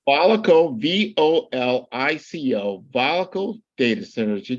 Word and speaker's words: Volico: Volico, VOLICO, Volico Data Centers.